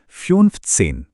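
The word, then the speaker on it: fünfzehn: अगला फिफ्थ सेन इसे बोलेंगे फ्यूनफथसेन। इसके बाद है आखसेन। इसका सही उच्चारण है आखसेन।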